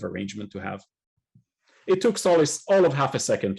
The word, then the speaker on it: Sollys: How do we spell Sollys's name? Is it S-O-L-A-C-E or S-O-L-I-S? S-O-L-L-Y-S, but it's pronounced like Sollys, which, you know, you can understand why, right?